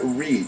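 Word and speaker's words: Reade: Well, yes, because that's crucial, because the same judge, and I'm going to give you her name, Linda Reed, is that how you pronounce it? R-E-A-D-E. Yes.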